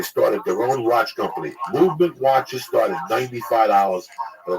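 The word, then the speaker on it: MVMT: church What's Happening Now mvnt watches pronounced the movement Jack was founded on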